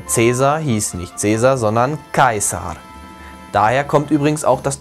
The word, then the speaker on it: Caesar: Oder nicht Cäsar, sondern Caesar. Also das AE wird nie wie ein Ä ausgesprochen, sondern immer getrennt.